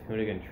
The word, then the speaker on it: Hoonigan: One is this thing, this Hoonigan truck is how it's pronounced.